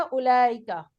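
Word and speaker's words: أولئك: क्या है, जालिका तिलका उलाइका। दालिका तिलका उलाइक। इसमें मैंने क्या बताया था, आपका जो ये वाव है ये क्या है, जायद है, इसको प्रोनाउंस नहीं करते, पढ़ने में नहीं आएगा, जायद है ये वाव।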